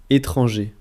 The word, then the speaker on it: étranger: Attention à la prononciation. Croissant. Croissant. Français. Français. Étranger.